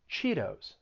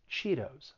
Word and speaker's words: Cheetos: soft d doritos doritos you also hear the flat tea in other brands of chips like cheetos you hear that softie cheetos i really like cheetos